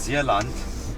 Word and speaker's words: Zeeland: So for us to make our way towards Zeeland, we're pronouncing it Zeeland because it's like Afrikaans.